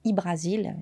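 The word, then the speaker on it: Hy-Brasil: Les premières représentations de A Brasil, bon je prononce A Brasil mais ça peut être Ibrasil, il y a plusieurs prononciations différentes, apparaissent sur les portulans médiévaux tels que ceux d'Angelino Doulert et de Catalane Atlas.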